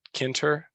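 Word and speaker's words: Tkinter: beating so it's it's kind of weird it's pronounced kinter but it's just it has a I'll put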